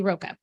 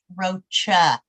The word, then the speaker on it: Rocha: and I see Roca hi can you hear me yes we can yeah just for the record my last name is pronounced Rocha Rocha thank you very much